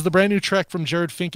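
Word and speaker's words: Jerad Finck: A guy named Jared Fink, but it's not spelled like you think it would be spelled. It's Jerad, so flip around the vowels, Finck.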